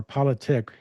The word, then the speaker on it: Politik: And he has a new book, Real Politique or Politic. You help me with the pronunciation.